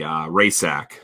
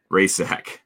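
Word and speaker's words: Rajcsak: She's Polish as well, and it was R-A-J silent C S-A-K Rajsak. Right, so the silent letters is what screw a lot of people up, especially when they're consonants. Yep, right in the middle. Yeah, it's like, oh, do I pronounce? Is that a hard C, a soft C? No, it's an OC. Yeah, you just pretend you don't see the C.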